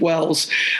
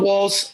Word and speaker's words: Walls: thanks rick and you're if i had a dollar for every time somebody mispronounced that name and made it wells i'd be ready to retire a lot earlier so yeah my name is walls i'm an american by